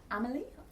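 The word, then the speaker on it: Emelye: but miss H you're is it amily Emily Emily that's how you say it um it's not spelled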